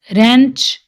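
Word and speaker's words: wrench: डब्ल्यू, तो इसमें W silent है। रैपर, रैत, रीत, रेंच, ring, road, wrist, Regal, wrinkle, wrestling, playwright.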